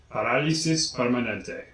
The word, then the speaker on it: Parálisis Permanente: I'm not sure on that one, but I am sure how to pronounce it. Parálisis Permanente. Parálisis Permanente.